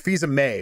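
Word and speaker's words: Fils-Aimé: It's Fisa May, right?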